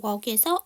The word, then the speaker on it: walk: walk에서 L 사운드 묵음이에요.